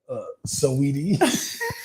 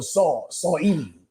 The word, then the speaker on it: Saweetie: Saweetie. I know it's gonna be Sweetie, but it's an A in the middle. It's SAW. She lucky I ain't call her Saw Edie.